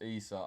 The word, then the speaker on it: Issa: Now's a good time to tell you my name is pronounced Issa. Oh, Issa. It's because of the double S. I thought it was like Essa, but Issa.